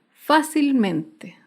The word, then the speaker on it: fácilmente: tilde otro ejemplo es la palabra fácilmente fácilmente se acentúa en la sílaba anterior a la antepenúltima sílaba fácilmente por último un ejemplo